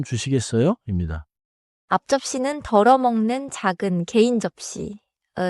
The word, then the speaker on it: 앞접시: 앞접시는 글자 그대로 천천히 읽는 것보다 자연스럽게는 앞에 소리가 짧게 앞처럼 나고 접시가 조금 세게 들립니다. So I shouldn't overpunch the P. More like 앞접시 in a quick restaurant rhythm.